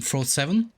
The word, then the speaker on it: Frote: Pick from Frote7. Yes, it has to be pronounced correctly, like Frote.